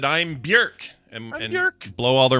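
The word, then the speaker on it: Björk: Bjork, which I think we're supposed to pronounce Bjork. Is I it think it's, Bjork? Yeah, it's Bjork. Oh, shit. It's worse. I know. How could that name possibly get worse? Bjork. I think that is how we're supposed to be pronouncing it. It's don't pronounce it like it looks.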